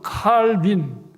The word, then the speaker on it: 깔뱅: 그래서 깔뱅은요, 옛날식 발음 칼빈, 요즘식 발음은 깔뱅인데요.